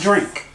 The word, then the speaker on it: Jourink: And Drink is spelled Jourink. Pronounced Drink.